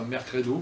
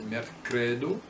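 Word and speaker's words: merkredo: L'accent tonique tombe sur l'avant-dernière syllabe. Alors par exemple, là c'est mercredi, mercredo, c'est pas mercredo comme on dirait en français, c'est mercredo, et ça veut dire difficile, mal faciligi.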